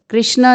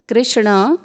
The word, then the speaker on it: कृष्ण: न कांक्षे विजयम कृष्ण, कृष्ण नहीं कृष्ण, न च राज्यम सुखानि च किम नो राज्येन गोविंद किम भोगैर, यहाँ पे आपको रुकना है, भोगैर जीवितेन वा।